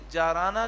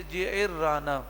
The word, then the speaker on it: جعرانہ: آپ جیرانہ تشریف لائے، جسے عام طور پہ جارانہ کہتے ہیں، لیکن صحیح تلفظ ہے جعرانہ۔ تو جعرانہ جسے عرف